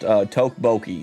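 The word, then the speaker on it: 떡볶이: Tokboki is pronounced Tokboki.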